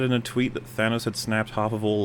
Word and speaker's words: Thanos: It was But you'd also say Thados every time. Yeah. Cuz that's not even an American pronunciation or anything. That's just wrong.